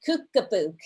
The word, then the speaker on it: Kookabook: And so there's a wonderful interview, you guys, with those wonderful experts and Dani talking about, am I saying it right? Kookabook? That's correct. Kookabook.